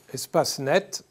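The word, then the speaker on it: Espacenet: qui s'appelle espace net espace net s'écrie très simplement comme ça se prononce et donc vous rechercher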